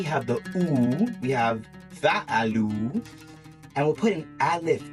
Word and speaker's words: فعلوا: So now that we have the oo, we have fa'alu, and we'll put an alif on after it. This alif here is silent. So it shows fa'alu with an alif, but we don't pronounce it.